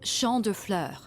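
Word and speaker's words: Champs de Fleurs: just like I imagine Champs de floors how do you say that it's Shand FL it means Field of Flowers this is the place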